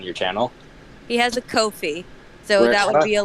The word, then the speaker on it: Ko-fi: Ko-fi? I've seen it pronounced so many different ways. I assume Ko-fi because like, hey, buy me a coffee.